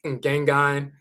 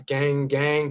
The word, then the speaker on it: Ngengang: Rakiet Kadjadja Nia Ya Nebhet, she represents the Fang tradition in North America, which is Ngengang. Mispronounced sometimes gang gang, but that's the Fang term, f a n g, the Fang people of Gabon and Cameroon.